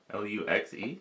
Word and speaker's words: luxe: L-U-X-E? Yeah. Yeah, that's Lux. Luke's?